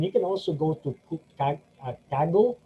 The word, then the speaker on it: Kaggle: And then you can also go to Kaggle, wherein I normally pronounce it as Kagle, because sa Bisaya, we do that. We do those things just to be able to create some differentiation.